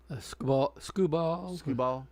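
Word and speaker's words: Skubal: Scubal.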